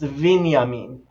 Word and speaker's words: Binyamin: right Benjamin binya mean based on what goes before it what goes after it where in the sentence it is it might actually be pronounced vania mean right because that bet changes into a vet based on where it